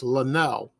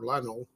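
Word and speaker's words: Lenell: look forward to was maurice lanelle or lionel that's how people pronounce that they made wonderful christmas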